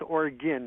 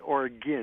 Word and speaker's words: Oregon: yeah yeah uh yeah it's pronounced organ not like Argon gas but or again well then it's spelled